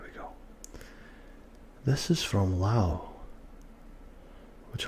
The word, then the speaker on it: Laos: This is from Laos, which a lot of people mispronounce Laos. It's actually Lao.